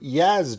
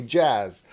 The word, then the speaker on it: jazz: Now, my favorite thing about that is he said 2 Yaz drummers, or in America, we say it wrong. We say jazz.